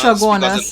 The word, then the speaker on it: Chaguanas: or more importantly, all those CH towns you have in Trinidad. It should be in English. Chaguanas. Yeah. But we say Chaguanas. Shagonas. In Shaka French, Shakari. yeah, because in French CH is pronounced.